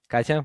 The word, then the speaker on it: Katia: Katia, welcome to the Grow Switch.